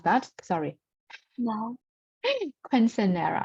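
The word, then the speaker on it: Quinceañera: Quinceanera, right? Quinceanera. We pronounce like that.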